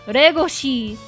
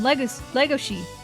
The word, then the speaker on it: Legoshi: You're not gonna catch me saying Regoshi and Rui. No. Unless I'm speaking Japanese, I'm not pronouncing shit like that. No. It's Louis and Legoshi.